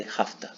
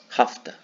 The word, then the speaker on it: have to: to improve your pronunciation you can say hafta have to possible hafta much better don't have to it's